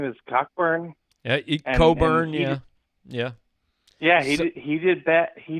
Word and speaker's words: Cockburn: As somebody posted on our message board, the C and the K can't both be silent, but whatever. That's cool. His name is Kofi Coburn, but he played a pretty nice game, especially in the second half.